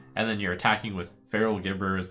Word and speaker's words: Feral Gibberer: Well, and just as a rules clarification, for I'm being told that it's pronounced Feral Gibberer, adding copies of Feral Gibberer to your hand will not keep buffs put on the Gibberer.